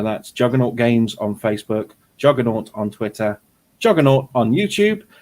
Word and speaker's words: Juganawt: okay well on youtube it's juggernaut it's spelled badly so it fits in eight letters that's jujin a-n-a-w-t it's the same over